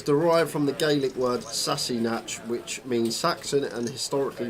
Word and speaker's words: Sassenach: It's pronounced Sassinach.